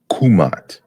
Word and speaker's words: Kemet: scholars have talked about the word kimmit actually being pronounced in the old and middle kingdom kumat and the runa language